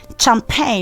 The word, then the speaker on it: champagne: Champagne is supposed to be champagne and not champagne.